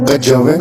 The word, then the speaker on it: kejawen: Kejawen adalah kata bentukan yang berasal dari kata kejawian. Dengan keluasan lidah orang Jawa diucapkan menjadi kejawen.